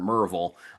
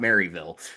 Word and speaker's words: Maryville: My brother-in-law lives out there in Murreville, which is the correct way to pronounce that. It's not Maryville, apparently, when you go out there.